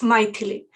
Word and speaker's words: Maithilee: If you want to remember, easy remember is to think about mighty Thor. So Maithilee, that kind of Maithilee, but it's Maithilee.